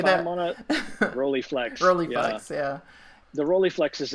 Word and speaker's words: Rolleiflex: You like, I believe it's I don't know if I'm going to pronounce this correctly, a Rolleiflex, or how do you say that? Rolleiflex.